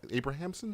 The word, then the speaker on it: Abrahamson: Lenny I'm going to say his name wrong. It's Abrahamson. Is that correct? Yeah, Abrahamson.